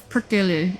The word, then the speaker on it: Perkele: 3 syllables for Perkele. It's a Finnish word that's like, damn it, literally meaning devil.